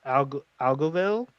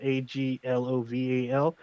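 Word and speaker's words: Aglovale: I believe it's pronounced Morian. This is about a black knight, a Moorish knight. His father is Algovel from the Knights of the Round Table, Aglovalle.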